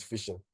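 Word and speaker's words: phishing: wondering what is fishing it sounds like sounds like fishing basically like f i no I didn't get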